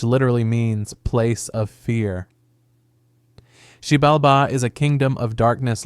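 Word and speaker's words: Xibalba: In this text, the underworld or hell is called Sibalba, pronounced Sheibbalba, which literally means place of fear. Shibalba is a kingdom of darkness located far below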